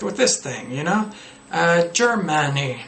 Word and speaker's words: Germany: There are a lot of pronunciation errors you can correct with this thing, you know? Germany, not Germany.